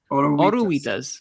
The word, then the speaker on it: oruguitas: Dos oruguitas. Agruitas? Oruguitas. Oruitas. Oh, the G's not even... Okay, oruitas. Gi.